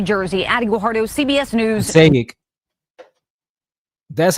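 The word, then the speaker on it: Passaic: Payic, that's how you say it. I always mispronounce it.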